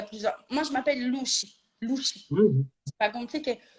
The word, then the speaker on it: Louchi: Tout le monde le prononce Lucci. Alors, bon, bien sûr, je me tue à leur dire que si c'était Lucci, ça serait 2 CC, donc c'est dit, pas CH.